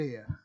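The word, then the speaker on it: heir: था ना ये मेल एयर तो एयर में भी जो है इसका उच्चारण में एच जो है व साइलेंट रहता है उत्तराधिकारी क्या होता है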